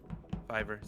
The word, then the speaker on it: Fiverr: Fiverr, sorry. I hear it called different ways, so I don't know which one's the correct pronunciation. It's Fiverr, because the whole concept is anything can be done for $5.